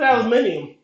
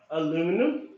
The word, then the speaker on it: aluminium: What's an aluminium? Oh, come on, Tyr. Sorry, I can't help it. It's the correct pronunciation of that really lightweight metal. Aluminum?